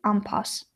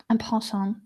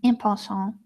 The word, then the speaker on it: en passant: is to capture with en passe. This is a word that I never managed to pronounce correctly, French. En passe, en passant, en passant. Well, depending on how you want to pronounce it, it's the capture that